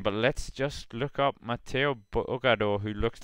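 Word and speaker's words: Mathieu Burgaudeau: And yeah, guys, this is definitely going to be a missed opportunity for Trek Segafredo to double their Mathieu Bugador, I just got the correct pronunciation from someone who can pronounce French things.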